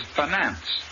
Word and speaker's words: finance: The word is finance. The I in the first syllable is short, and the accent is on the second syllable.